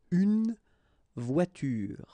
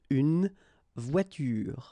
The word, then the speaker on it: voiture: It's à la fin d'un mot, at the end of a word, then you shouldn't pronounce this like here, une voiture.